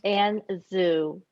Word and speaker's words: Anne Zhu: So I just need help pronouncing your. It's LaMotte. Okay. And the illustrator's name is Anne Zhu.